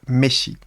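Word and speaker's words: MSIA: pour l'éveil spirituel intérieur on prononce en fait Messi.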